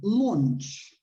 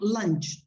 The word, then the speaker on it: launch: Sorry, the pronunciation is not lunch. To have lunch is what you eat at midday. This is lunch, okay? Launch.